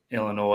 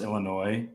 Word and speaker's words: Illinois: Kurt was gonna pronounce Illinois Illinois by the way Illinois you don't say the S at the end of Illinois so Turtle bunch of